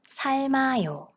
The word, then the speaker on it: 삶아요: Then, we split the double final consonant in two, and the right final consonant moves to the next syllable. And then we pronounce it as 삶아요, 삶아요, 삶아요.